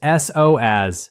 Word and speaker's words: psoas: It is pronounced s o as, p s o a s.